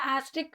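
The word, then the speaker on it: asterisk: ஆஸ்ட்ரிக் அப்படின்னு ப்ரொனவுன்ஸ் பண்ணணும்.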